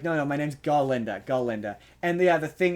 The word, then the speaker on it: Galinda: pronounces says her name like a goat constantly pronounces her name and she's like no no my name's ginda ginda and yeah the thing is like animals